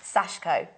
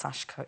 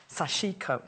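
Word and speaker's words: 刺し子: people think so chic oh but it is pronounced sashko it's pronounced sashko it means little staff or little Pierce and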